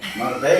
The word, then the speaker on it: Marbella: Marbella, you said it right.